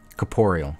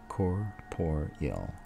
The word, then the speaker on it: corporeal: word up I won't ever be able to pronounce it correctly seeing it spelled out now Caporal right corporeal you Caporal oh my God that's it GG's